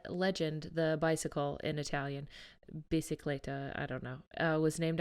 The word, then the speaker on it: bicicletta: I think it is bicicletta because Bicicletta.